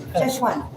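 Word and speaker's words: Szechuan: Cheshwan. Cheshuan beef.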